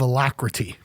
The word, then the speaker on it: alacrity: a real lack of alacrity. Alacrity. Alacrity is the word of the day, folks. And if you're not familiar with that word, what's Congress not doing? Well, alacrity is a 4-syllable word, A-L-A-C-R-I-T-Y, typically used as